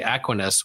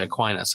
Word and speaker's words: Aquinas: Is there an alternate universe where you mispronounce his name and say Aquinas when it's really Aquinas a lot?